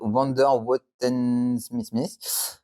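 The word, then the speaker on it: Vondervotteimittiss: une petite ville de wonderw SM prononcé tout haut ce nom rappelle la question anglaise wonder what time it is je ne demande pas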